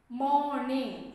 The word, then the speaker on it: morning: That R, one of the first alveolar is not pronounced. It is silent there. We don't say morning, we say morning. Say that R is silent here.